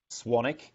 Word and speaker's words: Swanwick: and wi ck up my last name is pronounced Swannack but it's actually spelled Swanwick so if you go